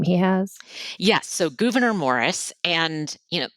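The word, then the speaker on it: Gouverneur: So, Gvenor Morris and you know there's debate about pronunciation of his name. I generally just go with Gvenor but uh I've heard multiple different options there.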